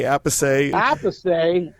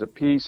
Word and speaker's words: Appice: So Carmine decided on Appice. All right, and that was like in 1975, 76. So I was just getting going, and I said, I don't like Appice. Sounds like a piece of pizza or a piece of cake or something. So I'm sticking with Appice.